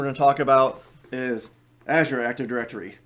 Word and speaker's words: Azure: to talk about is azure active directory I hate pronouncing it like that I know the color is azure but Microsoft calls it Azure um so let's talk